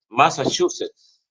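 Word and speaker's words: Massachusetts: el apologista Cristiano católico Elmer Arana desde masach Massachusets así se pronuncia Massachuset estado de los Estados Unidos así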